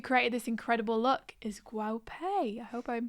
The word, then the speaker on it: Guo Pei: the brand who created this incredible look is Guo Pei. I hope I'm pronouncing that right.